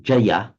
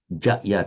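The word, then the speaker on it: जय: So in Sanskrit is pronounced Jaya, Jaya, two distinct syllables.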